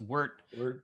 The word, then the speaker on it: wort: We're going to introduce some grains into a machine that transform those grains into wort, which my eldest is always telling me should be pronounced wort.